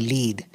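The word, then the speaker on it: lede: to make sure that the lead, as we call it, and we spell it eccentrically, L-E-D-E, for reasons that I still don't quite understand, that the lead be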